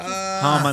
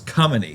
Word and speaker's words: Khamenei: Okay, it's spelled with an H, It's spelled KH. so it's Kamani. No, it's Khamenei because KH is how you spell We ch. spell the ch with CH.